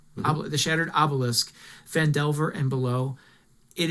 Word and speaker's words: Obelisk: a new uh book out called the shattered OB I always say it wrong OB obisque the shattered Obelisk fand Delver and below it is a magnificent